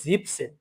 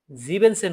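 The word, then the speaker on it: siebzehn: এখানে হচ্ছে জিপ সেন, এটাকে অনেকে জিবেন সেন বলে।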